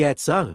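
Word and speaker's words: Etzel: mais conhecido como Irgunou, por sua sigla em hebraico, pronunciar-se Etsar, revolta árabe de 1936 a 1939 na Palestina.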